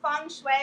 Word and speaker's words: Feng Shui: pronouncing it quick quickly it is Fung Shui but I often honestly catch myself a Feng Shui all the time people